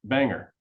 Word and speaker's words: BANGR: five letters for example the spelling of B ngr departure is pronounced Banger the stars on the